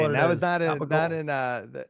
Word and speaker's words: Gabagool: Gabadoo before.